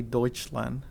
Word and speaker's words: Deutschland: four years of german then i know it's oi you pronounce that as oi eu so yeah you pronounce oy that's why it's called when you say deutschland even though it's pr it's real it's written it's this you call it deutschland okay but anyway uh